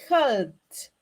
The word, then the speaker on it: helped: Cuando yo lo cambio al verbo helped, al simple past, we are going to say helped. In that case, it is pronounced with a T, a final T.